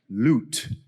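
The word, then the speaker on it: লুট: My favorite global word is the Bengali one, which is up there, which most of you won't know is pronounced loot.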